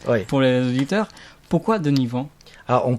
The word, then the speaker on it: Deni Van: Et vous s'appelez Denis Van. Alors expliquez-nous, je sais, moi je connais déjà la réponse, Ouais. pour les auditeurs, pourquoi Denis Van? Alors, on prononce Denis Van. Denis Van, Ouais.